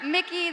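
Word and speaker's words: Mikyx: time for Broken Blade, for Mickey, the X is silent, and G2 Esports winning yet another title.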